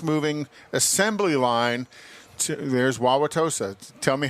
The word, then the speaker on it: Wauwatosa: Wauwatosa. Wauwatosa. Like Baba Wawa. Baba Wawa.